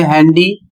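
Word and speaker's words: handy: अगला शब्द है हैंडी। इसमें भी एन और डी आया है, लेकिन यह भी अपवाद के रूप में है, इसमें डी का उच्चारण किया जाएगा। अगला शब्द है सैंड, इसमें भी डी का उच्चारण किया जाएगा।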